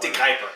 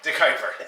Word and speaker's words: De Kuyper: I never know how to pronounce that word. De Kuyper. De Kuyper.